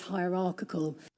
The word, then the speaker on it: hierarchical: I need to be less hierarchical.